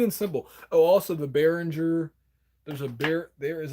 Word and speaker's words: Behringer: c22 so you just have to type in Barringer oh sorry behringer is spelled beh rin ger so I am NOT